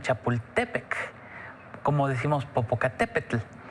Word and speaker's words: Chapultepec: en náhuatl por ejemplo generalmente pronunciamos chapultepec y en realidad el acento tendría que ser en chapultepec como decimos popocatépetl y